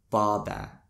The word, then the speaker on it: båba: Ah, as in father. A Chamorro word using ah would be baba.